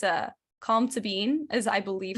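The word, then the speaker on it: Colm Tóibín: author of brooklyn the book his it's a calm to bean as i believe how it's pronounced but it's spelled like calm tobin kind of but it's calm to bean because it's like irish gaelic i think or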